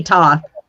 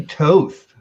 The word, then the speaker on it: Thoth: say nothing you did it should be tough i'm sorry i say toast well it did you say toast it's an egyptian god so okay that's what